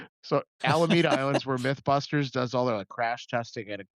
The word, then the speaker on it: Alameda: So um yeah, so I started with the wrong pronunciation. So Alameda Island's where Mythbusters does all their, like, crash testing and Yep.